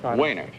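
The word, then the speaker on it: Wejnert: what is it mehnert w he was w ej any RT you don't pronounce the J is that it wainak I see and you live where mr.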